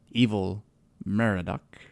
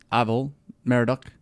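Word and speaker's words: Evil-Merodach: believe evil men RDoc evil mara duck how do you say it it really isn't the word evil it sounds like it ival Mara duck his son named Belshazzar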